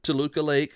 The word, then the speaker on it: Toluca Lake: in Toluca Lake. I think I'm pronouncing that correct.